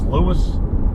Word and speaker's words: Lewes: down to Lewis Delaware I know sometimes it gets pronounced L but it's Lewis uh down there near